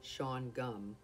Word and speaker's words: Shawangunk: colored lumber and furniture the schwann gunk correct pronunciation sean gum is a vast amphitheater